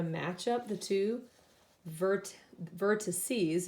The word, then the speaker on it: vertices: up the two vert vertices is how you would actually say it I don't want to say the two vertexes because that's not how you say it but I'm gonna